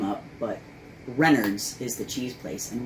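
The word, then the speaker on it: Renard's: It's Renards.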